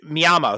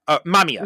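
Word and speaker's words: Mamiya: um this idea that Miama who is the the the killer in it or you know the one who's inducing The Killers uh mamia sorry mispronounced his name um mamia yeah but he's he's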